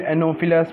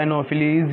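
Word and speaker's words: Anopheles: Female एनोफिलस mosquito, female एनोफिलस mosquito, या एनोफिलीज या एनोफिलस, जो मीन्स जिसकी प्रोनाउंसिएशन कुछ भी बोल सकते हो।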